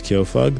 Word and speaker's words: Kyofug: My name is Kofug. That's spelled K Y O dot in the middle.